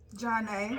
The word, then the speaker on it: Johnnate: Johnnate. Johnnate. John. Johnnate. Johnnate. Praise Yahweh. Well, praise Yahweh. We're so happy to have you here on Yahweh's Increasing Opportunity Show, Queen Yahweh Ashley and Queen Yahweh Johnnate.